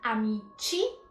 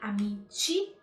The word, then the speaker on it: amici: Atenção sempre à pronúncia, amici, com i, amici, amiche.